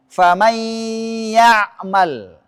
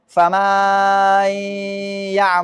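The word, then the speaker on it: فَمَن يَعْمَلْ: Ah, contoh di sini saya baca dulu benarnya. Famay ya'mal. Kemudian sangat lambat sehingga memasukkan alif antara mim dan nun menjadi fama yaal. Itu salah kan?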